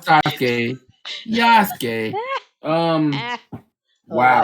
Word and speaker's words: Yasuke: Um, Sat down and finally watched the Sasuke trailer for Netflix. The what? It's cool. It looks okay. What is it? It does Sasuke, or am I saying it right? Yasuke, Oh, pfft, the Black Samurai.